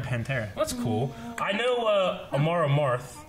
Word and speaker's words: Amon Amarth: I know Amon Amarth, right? Is that how you say it? Amon Amarth. Yeah, Amon Amarth.